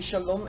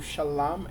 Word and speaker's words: shalom: asked, as far as why do we say shalom, S-H-A-L-U-M, as opposed to shalom, S-H-A-L-A-M, or shalawam, S-H-A-L-A-W-A-M, as some will spell it.